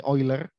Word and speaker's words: Euler: Nah, ini bacanya sudah pernah saya beritahu, ya, di sebelumnya bacanya ini Euler.